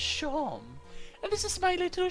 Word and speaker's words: Seam: The name's Seam, pronounced Shawm, and this is my little shop.